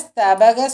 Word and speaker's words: ஸ்தபக: தவாஸ்மின் மந்தார ஸ்தபக சுபகே. இதில் அந்த மந்தார ஸ்தபக, ஸ்தபகில் ப சொல்லணும். ப தான் சொல்லணும். பவை அழுத்தி சொல்லணும்னு இல்லை, ப சொன்னால் போதும்.